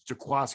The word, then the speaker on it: Jaquiski: i know i always i always pronounce it the way it's written but it's jaquasco i know yeah and